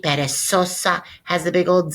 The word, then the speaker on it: perezosa: lazy has a Z, perezosa has a big old Z in it, and that'll help you make the connection. Reminder, Z's always pronounced like S's, perezosa.